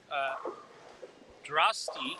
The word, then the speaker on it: Drosty: Amelia Drosty, like Frosty.